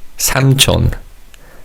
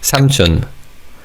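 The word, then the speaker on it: 삼촌: Samchon. Let's say that with me. Samchon. Samchon. But in fast speech, this can sound more like Samun than Samchon. It sounds like this. Samchun.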